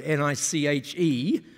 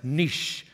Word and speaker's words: niche: say this word, N-I-C-H-E, I can say it like this, niche. But in America, how do you say it? N-I-C-H-E. How do you say that word? Niche. Not quite sure what it is, but anyway, sounds like itch with an N, right?